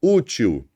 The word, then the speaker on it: útil: Veja aqui no primeiro exemplo, ó, útil. Vamos separar a sílaba? Útil. Qual que é a sílaba tônica? A última ou a penúltima? Obviamente que se trata da penúltima.